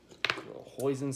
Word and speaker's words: hoisin: too much hot sauce hoisin sauce some people don't know about poison sauce I thought it rhymes with poison she thought it was